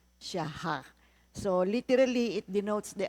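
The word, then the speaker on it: shachah: S H a c h a h. Pero ang kaniang pronunciation siyaha.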